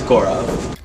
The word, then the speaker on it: Gaurav: Nobody actually says my name right. Even people that have known me for 13 years, they still can't say my name right. It's Gaurav.